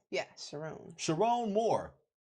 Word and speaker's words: Sherrone: Yeah, Sherrone.